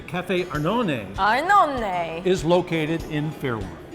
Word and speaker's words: Arnone: I'm gonna try and say it like Italian. Say Café Arnone Arnone is located in Fairlawn.